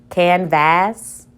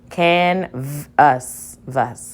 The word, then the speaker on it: canvas: Let's try it as a short vowel. V, as, vas. Canvas. That doesn't make sense. Let's try it with the schwa. Canvas. Canvas. That makes sense, and these are both closed syllables.